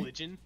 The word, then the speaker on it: bludgeon: Blood-gen. It's spelled B-L-U-D-G-E-O-N, but you pronounce it bludgeon.